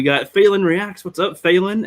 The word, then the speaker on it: Phelan: What's up, Phelan? And I've learned that name too. For some reason, I kept on calling her, and that might actually be the name.